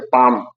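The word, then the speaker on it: palm: यल के बाद यम आता है तो यल का उच्चारण नहीं होता। जैसे पाम, यल के बाद यम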